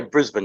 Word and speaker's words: Brisbane: I'm here with Dan Ricard from Night Watchers Paranormal Australia down there in Brisbane. Is that properly pronounced? Yeah, Brisbane, yeah.